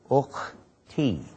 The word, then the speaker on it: ukhti: And when it's a girl, there's a difference in Arabic for the girl or boy, so you say ukhti, ukhti.